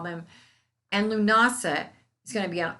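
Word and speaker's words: Lughnasa: let's go back to lunasa that is spelled a s l-u-g-h-n-a-s-a and the celtics often say lunas i'm from the south it's lunasa okay let's just get real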